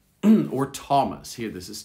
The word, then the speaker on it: Thomas: at that and then rarely th sounds like a t thames or thomas here this is thomas and then finally sometimes